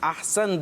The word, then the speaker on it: احسن: بول رہے ہوتے ہیں، لیکن درست پروننسیشن کیا ہے؟ احسن۔ احسن درست تلفظ ہے احسن۔ اور احسن کا معنی